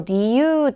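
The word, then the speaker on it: 理由: 볼게요 치치와 갱꼬 조노 리유 사이즈가 다 같아요 히라가나가 류 아니고요 유라고 읽어야 되죠 리유 타고 야마시다 아버지는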